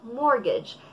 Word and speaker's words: mortgage: at all i mortgage mortgage so silent t show cleaning that it's